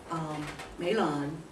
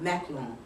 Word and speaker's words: Mahlon: The name of his sons, Mahlon. Let me see if that's, no, Machlon, if you look at the way it's supposed to be pronounced, which means sickly, and Chilion, which means, and Kilion, it's pronounced that way, meaning pining.